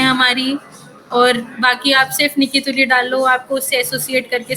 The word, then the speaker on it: Nicke Tuli: तो वो आएगी नहीं तो माय नेम इज निकी तुली टस एन आई सी के ई टी यू